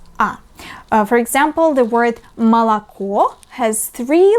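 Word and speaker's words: молоко: for example the word malakuo has three letters o but only one of them the last letter O is read as o but the first two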